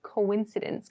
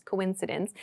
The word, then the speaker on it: coincidence: So this word is spelled kind of strangely. It's pronounced coincidence, coincidence.